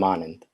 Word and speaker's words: Anand: first okay hi i'm anand the name is pronounced like the words on and on and it said in quick succession the d is soft but i don't like